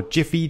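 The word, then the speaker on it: GIPHY: gonna get mine from giffy or jiffy depending on your preferred pronunciation comm and I'd recommend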